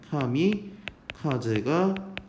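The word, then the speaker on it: 神風: 이거를 일본어 발음대로 얘기하면 여러분들이 잘 아는 카미카제가 됩니다.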